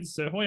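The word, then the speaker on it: Srhoj: Caitlyn seroy to Melbourne I have actually checked the pronunciation siroy I'm glad I haven't we haven't butchered that too badly pick six Jess wrench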